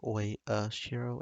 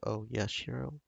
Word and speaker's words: Oyashiro: I keep thinking that maybe the oi is one instead of, like oi shiro instead of oh yeah, shiro. And it's kind of been bugging me, but I'm glad to see that I've probably been saying it right.